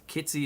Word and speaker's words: Kitsy: Um, I am joined by Kitsy Higgins. Kitsy is the right pronunciation.